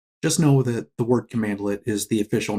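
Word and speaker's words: cmdlet: Now, PowerShell commands are based on something known as a command lit. A command lit is spelled cmdle.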